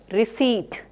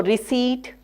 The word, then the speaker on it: receipt: Most common words are words like receipt, words like debris. So here the last syllables are not stressed. So receipt, debris, you will find that are the most commonly mispronounced words.